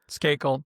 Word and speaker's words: Skakel: Skakel.